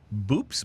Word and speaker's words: Boops: But our drunken fact for today, there is a fish with a scientific name boops.